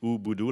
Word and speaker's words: Ubudu: i co-founded ubudu yeah you pronounce it ubudu like ubuntu sometimes uh difficult to